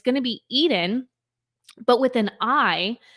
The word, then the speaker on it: Iden: it's going to be Eden but with an I pronounced like the Garden of Eden but spelled like identity i d en and